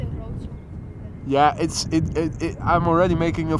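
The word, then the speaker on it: Wrocław: You write Rokla, but Bart from V1 has a Polish girlfriend, and he told me that you should say Rotsla or something like that, which it is definitely pronounced differently from the way you write it, and Just say Rotsla.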